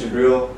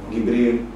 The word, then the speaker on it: Gabriel: My name is Gabriel. The Egyptians call me Gibril, and many other pronunciations, Jibrail, by our subcontinent members.